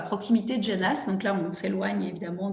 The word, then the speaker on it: Genas: De Genasse. Ça s'écrit G-E-N-A-S, mi-pleine, mais je ne connaissais pas le nom.